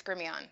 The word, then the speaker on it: Grimion: That's the right way to say it. Am I right, or are you gonna have to punch me? Oh, it's no, that's right. It's Grimion.